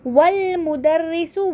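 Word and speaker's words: وَالْمُدَرِّسُ: वल प्रोनाउंस किया हमने, वह अल नहीं किया, क्यों, क्योंकि अलिफ लाम में जो हमज़ा होता है वो कैसा होता है, हमज़तुल वस्ल होता है, ठीक है।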